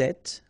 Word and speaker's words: êtes: Vous êtes, little liaison to be between the two, and then final S not pronounced.